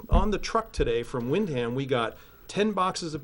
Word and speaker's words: Windham: assistant moderator for windham and that's how they pronounce it they don't say windham they say windham she was at the recount and she said